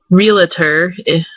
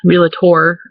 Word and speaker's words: realtor: let me see so like real realtor like realtor relator i guess is actually the way i say